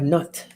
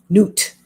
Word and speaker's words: Nut: And we have Nut, the mystery card. And let's see what she has to say. Newt, pronounced Newt. Looks like nut, but it's Newt.